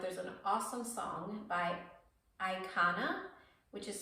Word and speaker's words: Aykanna: right now that there's an awesome song by ikana which is spelled a y k a n n a